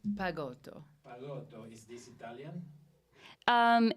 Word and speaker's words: Pagoto: Pago.